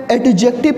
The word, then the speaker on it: adjective: हैं, इसको जो है एडजेक्टिव प्रोनाउंसिएट करते हैं। सो इसका प्रोनाउंसिएशन एडजेक्टिव नहीं होता है, इसका प्रोनाउंसिएशन होता है एडजेक्टिव। In this word D goes silent.